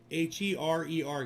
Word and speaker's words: Herer: H-E-R-E-R, guys. Just H-E-R-E-R. Herer. Pronounced Herer. H-E-R-E-R.